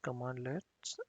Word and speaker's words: cmdlet: includes cmd let's that these are pronounced as commandlets and functions filters workflows